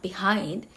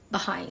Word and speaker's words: behind: For example, it's not behind, it's behind. Behind.